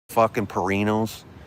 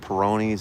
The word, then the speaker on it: Peroni: And my buddy finally goes, "Dude, it's just like when you eat pepperoni pizza, okay, leave the pep out. It's a peroni, motherfucker."